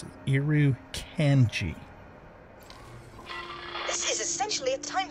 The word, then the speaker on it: Irukandji: Irukandji. That's how the game pronounces it. Irukandji.